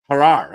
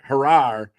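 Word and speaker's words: Jerar: always forget this pronunciation harar okay not harrar in caran own he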